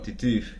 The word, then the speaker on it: Titeuf: Titef, se pronuncia así, Titef. Se escribe Titeuf.